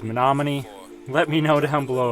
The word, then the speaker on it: Menominee: and this White House now I believe the proper pronunciation is Menominee let me know down